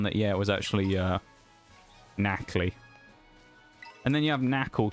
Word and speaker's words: Nacli: It took me a while to kind of like lock down that, yeah, it was actually Nacli.